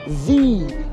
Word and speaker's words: the: It's a bit longer, and we use it when the next word starts with a vowel sound.